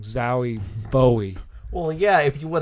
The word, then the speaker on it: Zowie Bowie: David Bowie named his kid Zowie. Well, I said it wrong. Zowie Bowie.